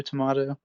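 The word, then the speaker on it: jalapeño: potato, tomato, jalapeno, Jalapeno.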